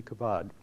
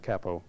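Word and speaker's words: Cabaud: philip g philip g kabad um i probably am pronouncing mispronouncing his name uh i think it's more like capo is how we uh pronounce it but in any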